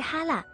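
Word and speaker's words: 哈拉: 辽的契丹读音是哈拉，哈拉契丹就是辽契丹之意。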